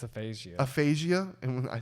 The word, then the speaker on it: aphasia: him so she's like damn and but yeah atheisia jobins that's what it is i think it's aphasia aphasia and when i said it wrong again aphiasia aphasia aphasia it's it's you know what brian